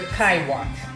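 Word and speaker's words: Kik Wat: And how do you pronounce it? This is a Kai Wat.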